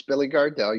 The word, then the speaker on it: Billy Gardell: I just thought I think I said his name wrong I know you know and I think no it's Billy Gardell you did it perfectly and thank you and